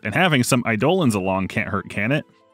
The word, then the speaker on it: Eidolons: This is where I realized that the Eidolons is pronounced Eidolons.